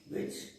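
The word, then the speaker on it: wedge: तो ये वाला वेज अलग है, वो VEG होता है, यहां पर डी साइलेंट है, वेज, ठीक है।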